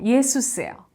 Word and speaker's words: Jesus: 근데 재밌게도 독어의 스펠링, 예수의 스펠링은요, 영어의 지저스랑 똑같아요. 근데 여러분 독어를 공부하신 분은 알겠지만 J가 독어에서 요트라고 그래서 이제 Z 발음이 안 나잖아. 요 발음이 나잖아요. 그러니까는 독어로 해도 예수스예요. 근데 이게 영어로 발음하게 되니까 이게 지저스가 되는 거예요.